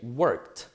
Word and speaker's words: worked: So one more time, the verbs that finish in a voiceless sound, the ED will sound like a T. So we say worked.